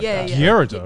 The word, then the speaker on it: Gyarados: Gyarados. It's like Gyarados. Gyarados. What the fuck Yeah. is that? I say Gyarados. Yeah. Gyarados. Because in Japanese it's Gyarados.